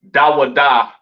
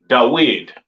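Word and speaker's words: דוד: Mm, they don't call King David Dawada correctly pronounced in the ancient Hebrew. They call him Dawid, all right? Or Dawid, all right? Something like that, something to that extent.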